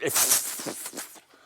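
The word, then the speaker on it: iff: to learn that word that's an if with two FS which is just which is pronounced if and um sometimes I'm a little sloppy in pronouncing it and then I'll just say if uh but it has two fs and it means if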